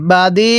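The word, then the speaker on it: بديع: subscribe করে রাখবেন এরপরে বাদি হ্যাঁ কিভাবে পড়বো বাদিস আইনটাকে চাপ দিয়ে পড়বো আইনটা পড়ার সময় গলার মধ্যে চাপ দিয়ে পড়লে আইনটা সহি শুদ্ধ উচ্চারণ হবে কিভাবে পড়বো বাদি সামাতি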